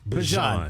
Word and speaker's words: Bijan: According to Mama Robinson, it's Bijan. He looked Not amazing. Bijan, Guess like what? mustard. He doesn't care, though. Okay. But his mom says it's Bijan.